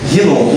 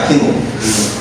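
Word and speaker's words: Hinom: Da porta do Vale, Rinom, com H, escreve com H, H-I-N-O-I-N, Vale de Rinom, pronuncia com R, né, escreve com H, Rinom.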